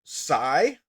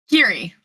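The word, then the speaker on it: Keary: You and and and is that best friend is that pronounced sigh. Kiri. Kiri. Uhhuh. I thought it was cy. Is it c y r? It should be k e a r y.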